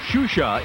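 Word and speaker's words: Xuxa: do the set XU XA is pronounced shusha in Brazil and while it's easy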